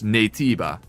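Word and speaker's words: Naytiba: the Korean uh pronunciation because the Koreans already pronounce it as nativa so they simply kept the the Korean uh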